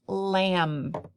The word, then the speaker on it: lamb: letter A lamb lamb now lamb has a silent letter at the end it has a silent B again this is tricky just gonna have to memorize it the second spelling word